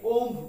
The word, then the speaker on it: womb: আসি WOMB আমরা এটাকে ওম বলি কি বলি ওম না এর বি সাইলেন্ট তার মানে এর উচ্চারণ হচ্ছে ওম উচ্চারণ কি ওম এর